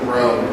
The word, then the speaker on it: grown: W is silent in grown.